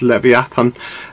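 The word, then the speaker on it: לִוְיָתָן: like Levan but it's it's the original Hebrew pronunciation so it's leviatan and it's a Hebrew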